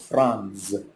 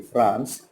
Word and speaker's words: Franz: You know, here the name of the little boy is Franz. Rhymes with France.